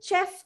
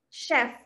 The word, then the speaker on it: chef: So here ගොඩාක් අය pronounce කරනවා මේක chef කියලා, the chef කියලා, but it is not chef, it should be chef.